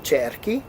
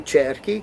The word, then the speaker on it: cerchi: It becomes che io cerchi, che tu cerchi, che lui lei cerchi. CHI maintains that hard K, the hard C.